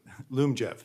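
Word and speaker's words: Lyumjev: that means uh I may be mispronouncing it Liam Jeff how do you pronounce that Loom Jeff Zoom jet wasn't close all right that's going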